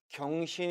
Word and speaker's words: 경신: 어떻게 발음해야 할까요 1번 경신 입니까 이번 으 생신이 맞나요 정답은 1번과 2번 모두 다 가능하다는 것이죠 경 짜르 활용 됐을